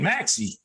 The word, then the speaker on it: Maxey: The kid Maxey, am I saying it right? Yeah. Yep. He's the truth.